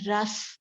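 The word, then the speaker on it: rasa: So Sapta Dhatu, the first dhatu is ras, the pronunciation. Now, first we go through the pronunciation. Ras, ra, s, ras.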